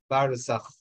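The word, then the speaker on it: برزخ: If you pronounce it in Arabic, it will be like barzakh.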